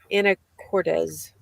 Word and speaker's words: Anacortes: Anacortes. There's not a Z at the end. It's an S, and I keep saying it wrong.